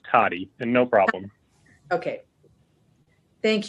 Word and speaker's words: Tode: Could you pronounce it for us? It's Toddy, and no problem.